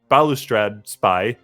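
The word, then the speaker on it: Balustrade Spy: graveyard either by bubble spy or i'll just pronounce it properly balustrad spy or undercity and former and now when those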